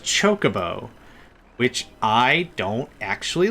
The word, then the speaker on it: Chocobo: It's actually pronounced Chocobo, which I don't actually like.